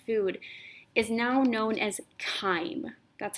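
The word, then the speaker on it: chyme: now this digested food is now known as time that's how you pronounce this word not chime it's kind time will leave your stomach go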